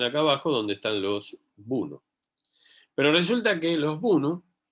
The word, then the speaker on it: Bunu: Porque lo escuché que se pronuncia así. Bunu.